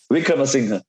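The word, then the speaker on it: Wickremesinghe: The way you said it is like Wickrama machine gun. Like machine gun. How do you say it? Wickramasinghe.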